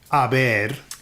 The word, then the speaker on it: haber: Now, the H is silent, therefore you get words like verbs like haber, A ver.